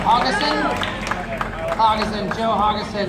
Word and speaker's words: Hodgson: There's a D in there. Joe Hodgson. You like having a D in you, don't you? Hodgson. Oh, the D is silent. Okay, I understand. Okay, I get that. It's a Canadian pronunciation.